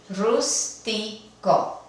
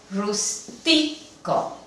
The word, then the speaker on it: rústico: Vemos que el acento fonético caería en la penúltima sílaba por tener una vocal al final. Entonces, la palabra se debería de pronunciar rústico. Sin embargo, la palabra no se pronuncia de esta forma. Se pronuncia rústico. Y ya que la sílaba tónica no es la penúltima, requiere del uso de la tilde.